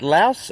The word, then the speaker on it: Lao: Do I pronounce it Laos or Lao? Laos means country. Lao with no S, it means the people. The people. So Yeah, the people are Lao and the Yeah. country is Laos. Laos, yes.